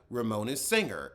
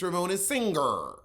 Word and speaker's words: Ramona Singer: you pronounce words like instead of ramona's singer it's ramona singer singer sing it's it's not two words it's not singer it's